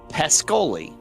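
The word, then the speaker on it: Pskesoli: am it's actually pronounced pescoli P yeah pescoli is how I'm going to call it but it's pronounced pescoli or PES or pescoli yeah they don't pronounce the Middle s that's so broken and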